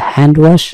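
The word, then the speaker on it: hand wash: এখানে খেয়াল করবেন, হ্যান্ডসামের ক্ষেত্রে বলেছিলাম ডি এর উচ্চারণ হবে না, কিন্তু হ্যান্ড ওয়াশ, হ্যান্ড ওয়াশে কিন্তু ডি এর উচ্চারণ হয়, সেটি খেয়াল করবেন।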